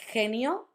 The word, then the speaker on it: genio: So when we have E and I, it sounds like J. So he, he. The words I'm going to use to show you are genio and girasol. If, for example, you want to say genio or girasol, like I said, you can do it like a very strong aspirated H from the English.